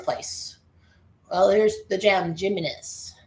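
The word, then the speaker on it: Giménez: Well, there's the gem Jimnis. G him. That's pronounced him. Hi M.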